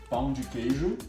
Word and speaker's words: Pão de Queijo: I forgot how to pronounce it already. Pão de Queijo.